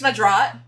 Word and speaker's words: Madrat: Yeah, guys, Madrat, his name's Madrat, 2 syllables, please remember.